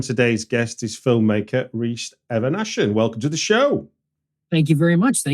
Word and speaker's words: Eveneshen: Stuart R and today's guest is filmmaker re Evan aan welcome to the show thank you very much